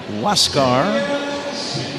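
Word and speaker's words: Huascar: A R but it is pronounced Wascar and he inherits a runner at second with one away.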